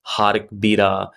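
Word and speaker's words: Jarque-Bera: normality assumption, which is Jark-Bera test. There is a lot of pronunciation for the same, like Hark-Bera, Jark-Bera. So it depends on what you use.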